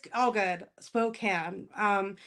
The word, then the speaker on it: Spokane: it spoke can so a lot of people who are outside of it say cane like a candy cane and it's more more like a can so you can tell